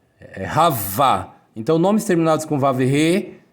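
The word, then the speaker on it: חַוָּה: Pode ver que Eva, Rava, em Gênesis 4:1, termina com Vav-He e se lê Ravá.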